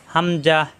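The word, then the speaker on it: ء: হা মুখ খোলা থাকবে হামজাহ হামজাহ এরকম একাও থাকে অনেক সময় এরকম মাথা থাকে এরকম কোণা থাকে বেশিরভাগই হামজা এরকম থাকে শুরুতে থাকলে এরকম থাকে হামজাহ শক্ত করে উচ্চারণ কন্ঠনা হলে শুরু থেকে হামজাহ হামজাহ হামজাহ হামজাহ হামজাহার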